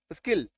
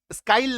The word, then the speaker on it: skill: SKILL, आई है, इसके ठीक पहले इधर और इसके ठीक इधर व्यंजन होना चाहिए, तो क्या हो गया, स्किल, है ना, उच्चारण क्या हो जाएगा, स्किल, स्किल, स्काइल नहीं, स्किल, है ना, यहाँ पे